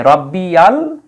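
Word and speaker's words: رَبِّيَ: তার কারণটা কি কারণ শব্দটা ছিল রব্বি পরে ইয়ার উপরে জবর দেওয়া হয়েছে তার কারণ হলো আমরা যদি পরের শব্দটা দেখি পরের শব্দের শুরুতে আছে হরকত বিহীন আলিফ অর্থাৎ এই আলিফের কোন হরকত নেই উচ্চারণ করার সুযোগ নেই তো এই ইয়ার উপরেও যদি কোন কিছু না থাকে তাহলে তো আর উচ্চারণ করা যাবে না এই জায়গায় এসে থেমে যেতে হবে সেজন্য ইয়ার উপরে একটা জবর দিয়ে উচ্চারণটা মিলানো হয়েছে রাব্বিয়াল আজিম এই শব্দের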